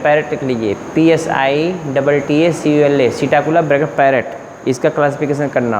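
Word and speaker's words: Psittacula: Bracket parrot लिख लीजिए, PSI TTACULA, सीटाकुला bracket parrot.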